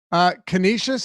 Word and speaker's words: Canisius: Utah Valley the Wolverines USC Upstate the Spartans Canisius is how you say it yes something bird-like